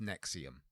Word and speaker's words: NXIVM: Although you know, if for the intelligent people, it's obviously pronounced Nexium. Sorry, what? Yeah, because V's are pronounced as U's.